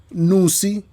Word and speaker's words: Nnusi: think just purely by way of introduction um nusi pronounce it properly yep beautiful nusikaz is a young